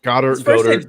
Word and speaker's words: Goedert: Is that how you pronounce his name? Goddard, yeah.